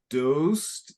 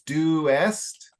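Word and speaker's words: doest: you're tending to pronounce dosed and life but it's due West and lieth yeah so it's separating the the vowel sound so it's lie F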